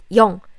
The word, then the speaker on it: 영: Yes, when I say 영, my mouth is bigger. So try to think. I pronounce sound, and try to pronounce o sound, such as o. Not o, My mouth is here, but my shape of my mouth is trying to pronounce o, such as o. This is o. 영. This is, your mouth is small, circle.